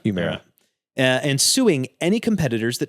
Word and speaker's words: Humira: Humira? Humira.